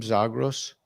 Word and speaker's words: Zagros: Zagros, is that a Kurdish name, Zagros? I think the origins of the name is actually Greek, and it would probably be pronounced like Zagros.